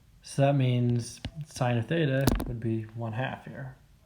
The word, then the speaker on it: theta: angle theta so it's a greek letter that's pronounced theta t h e t a okay and if